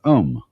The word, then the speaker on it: om: sound is used because if you spell it out a u m it runs from the back of your throat to your lips and therefore it contains the whole range of the voice and for that reason